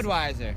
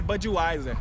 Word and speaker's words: Budweiser: Budweiser. Não é Budweiser, Budweiser.